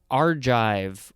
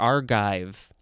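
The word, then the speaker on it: Argive: guanodine or guanidine next we have archive or archive capital a-r-g-i-v-e this is an adjective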